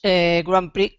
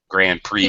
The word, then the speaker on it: Grand Prix: The X is silent.